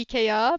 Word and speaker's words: IKEA: It's just a play on words of IKEA, but EK um, is the French way to pronounce it, and you just throw an A in there, and it's Canadian.